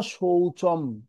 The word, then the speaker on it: শৌচং: এরপরে আছে ন শৌচম, চর পর অনুষ্কার যেটা দেয়া আছে সেটা ম উচ্চারণ হবে।